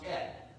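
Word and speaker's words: אֶת: It's pronounced et.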